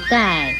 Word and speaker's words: 丐: 盖字的国语注音是歌爱盖四声盖，盖四声盖。